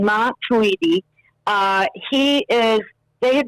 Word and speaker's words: Matuidi: they signed blaze matuidi um and that's the pronunciation mom tweety uh he is they have been promising for